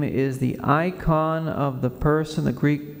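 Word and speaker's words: eikon: everyone's name is sacred the name is the icon of the person it demands respect as a sign of the Dignity of the one who Bears it when the catechism says that the name is the icon of the person the Greek word that's used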